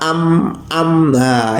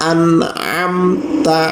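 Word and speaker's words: أنعمت: sebanyak Alif nah ataupun kadang yang salah itu diucapkan pakai meme sirotol ladzina amnah ini salah malah salah besar ya Jadi yang benar sirotol ladzina an na am Taya an'amta alaihim nah ini nanti kita upayakan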